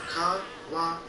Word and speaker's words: kawaii: Now notice, kawaii has two e's at the end of it, so it's kawaii. Kawaii. Here's the problem. A lot of people mess this up. They say it wrong. And it sounds like this. Kawaii. Kawaii means scary.